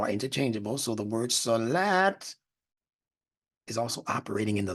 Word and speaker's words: Salat: the SL LT in solat the t is a dental that is pronounced towards the front of the mouth using the teeth and the C is